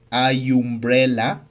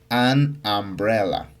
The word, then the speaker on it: umbrella: La u no suena. Tú no dices ayumbrela, sino dices anbrella.